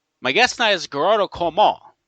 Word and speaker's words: Gearóid Ó Colmáin: My guest tonight is Gearóid Ó Colmáin, right? Gearóid Ó Colmáin, right? Gearóid, is that how you pronounce it? That's it. Yeah. Okay, that's the Gaelic name.